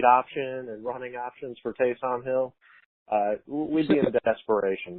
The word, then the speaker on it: Taysom: I've been saying Taysom. You're really supposed to pronounce it Taysom.